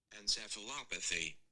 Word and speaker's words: encephalopathy: chronic trauma chronic traumatic endosceph okay pronunciation because y'all was never hooked on phonics encephalopathy encephalopathy chronic traumatic encephalopathy okay what does that mean